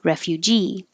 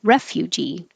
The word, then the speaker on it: refugee: ja july april april this one you'll hear people put stress in two different places some at the end refugee and some put it at the beginning refugee i've heard it on